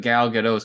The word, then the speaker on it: Gal Gadot: it really it is you do not pronounce the T interesting yeah spicy wasn't